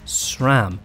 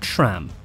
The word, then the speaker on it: SRAM: our first video that sram is an often mispronounced name for the record it's sram not sram and we've been guilty